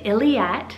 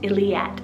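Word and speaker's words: Illiette: i have the name iliate spell i l l i e t t e very similar to elliott illyat a little bit more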